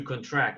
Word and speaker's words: contract: deal yeah the the the pronunciation of the word is different for the noun and for the verb the verb is the action to contract we need to contract